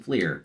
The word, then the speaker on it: Fleer: would open up some Fleer because it rhymes with beer and that just works